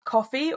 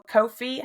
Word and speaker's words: Ko-fi: We also have Coffee or Ko-fi, however you want to pronounce it.